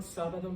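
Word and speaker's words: sábado: word for saturday sun you should be putting stress on by but it's not so you put the accent on the a to show that it's a rule breaker okay some of you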